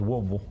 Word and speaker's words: Woodville: Guy called in and said, "Hey, bro, you're mispronouncing this Woodville." Woodville.